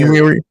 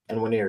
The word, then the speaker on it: Nwaneri: You talked about Ethan, and what's his name pronounced? Ethan Nwaneri. Enwiri. Nwaneri.